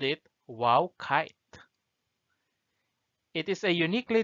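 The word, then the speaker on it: wau: why they called it wow kite it is a uniquely designed malaysian kite its wings are similar to an arabic letter pronounced wow passer gudeng international kite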